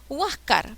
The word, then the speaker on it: Huáscar: y termina en c huáscar porque lleva tilde en la a porque es grave y termina en ere pachacútec porque lleva tilde